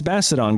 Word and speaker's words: Bastiodon: It's Bastodon, guys. The O is silent.